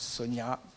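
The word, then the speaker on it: Sonja: » Personnellement, ça fait 47 ans que je suis marié avec quelqu'un qui s'appelle Sonia, avec un J, parce que voilà, ça se prononce Sonia avec un I ou avec un J.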